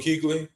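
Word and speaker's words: Kuechly: Luke Keequley.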